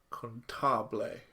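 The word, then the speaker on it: Cantabile: Let's go with the first anime that we're watching, which is Nodame contabile, which is the correct way to say it.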